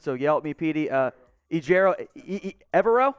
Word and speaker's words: Ejiro Evero: Ejiro, Evero? It's not Evero, Evero. Ejiro Evero. Thank you, Petey.